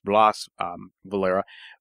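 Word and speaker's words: Blas Valera: Tell us about Blaise, and we're pronouncing his name in Spanish or in Castilian as Blaise Valera.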